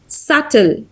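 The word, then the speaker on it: subtle: सल सल B silent है।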